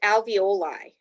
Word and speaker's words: alveoli: let's start with the second one this is pronounced alveoli a-l-v-e-o-l-i alveoli are the air sacs in your lungs